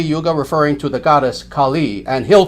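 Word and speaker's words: Kālī: goddess Khali now again listen Khali Kali with the term Kali as in kuga short a short I with the goddess on the other hand long a long I Khali Khali and it's unfortunate how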